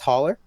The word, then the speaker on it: Haller: Is it pronounced Haller?